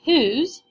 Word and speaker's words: whose: Now, this one doesn't follow any of those patterns because the word whose is one syllable and it's an O that's actually making that U sound.